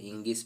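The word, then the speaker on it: ङीष्: मतलब इसका उच्चारण डीप भी कर सकते हैं दोस्तों, इसका उच्चारण डिस भी कर सकते हैं, और इंगिप भी कर सकते हैं, इंगिस भी कर सकते हैं।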